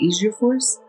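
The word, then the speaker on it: alfajores: Asia Force. I think the J, is not a J, but that's how it's spelled.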